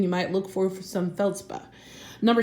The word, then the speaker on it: feldspar: It's spelled feldspar, S-P-A-R, but they don't usually pronounce the R at the end.